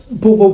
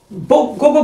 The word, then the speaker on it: GoGo: right hair pronunciation, is GoGo. No, I used to call it Bobo Bondu, but it's GoGo Bondu, and it's also known as a Miss Rola as well.